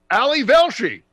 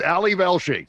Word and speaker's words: Ali Velshi: will attest to this i go ali velshi it's ali velshi and i say it